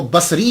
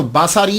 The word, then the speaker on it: بصری: یاد رکھیے گا کہ جب آپ اس کو تلفظ کریں گے تو باساری نہیں کریں گے، سواد کے اوپر زبر نہیں پڑیں گے۔ اگر آپ نے سواد